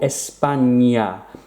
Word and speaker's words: España: This N with the squiggle, the accent, which is called a tilde, is pronounced like a ñ, as in onion. For example, España, español.